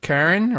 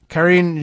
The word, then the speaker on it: Karine: Is it Karen or Karine? Karine Jean-Pierre.